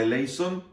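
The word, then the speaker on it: ἐλέησον: eles son jas en el griego moderno se pronuncia elison jas A qué le suena elison Así es aquella famosa frase que se dice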